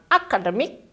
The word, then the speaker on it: academic: Ada academic. Ada 4 suku kata. Karena dia berakhiran dengan IC, setelah itu kita maju satu suku kata. Lalu kita tekankan di D-nya. Nah, jadi bukan academic, tapi academic.